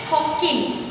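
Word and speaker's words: Hawkin: सो वो गार्डनर कौन है, हॉकिन, D silent over here, हॉकिन बोला जाता है इसको।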